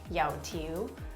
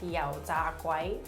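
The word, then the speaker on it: 油條: The way you pronounce it in Cantonese is yao tiu, or there's another way of saying it where it's like yao za guai.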